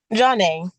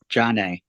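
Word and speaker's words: John'na: works better all right how do you pronounce your name Johnny Jan Jan Jan yes sorry j everybody pronounces it wrong like all the announcers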